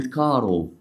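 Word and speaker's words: caro: كايرو ما قلناش خالص خلي بالك عشان تعرف تنطق صح اهو طيب عندنا ايه كمان مثلا زي كلمه كارو كارو يعني معناها غالي او عزيز تنفع تقول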